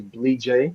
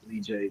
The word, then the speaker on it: Blee J: Name is Blee J. I'm glad, so everybody is able to pronounce it and say it the right way. Blee J. Blee J is it's a Bassa name from the Bassa tribe in Liberia.